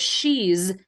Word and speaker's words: she's: off on a tangent I want you to pronounce that S at the end of she's as a z and in this phrase